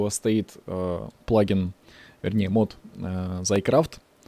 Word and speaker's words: Thaumcraft: стоит плагин дни мод за и крафт считается он именно так а не как некоторые считают его x one x y que крафт как только они считают правильно читается за и крафт и именно так называет